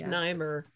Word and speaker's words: Nimer: It's pronounced Nimer.